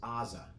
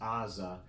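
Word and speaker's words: עזה: we call um Gaza Israel calls Aza okay because that silent letter at the beginning of Aza probably used to have more of a guttural sound so so our Gaza is probably closer to the ancient name of the city whereas Aza is more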